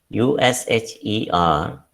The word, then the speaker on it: usher: USHER means to usher. The sounds are A, Sh, and A. Usher. Usher means to lead in.